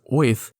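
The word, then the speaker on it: Oerth: his many sons to ath which I'm just learning now is actually more commonly pronounced oth the world of the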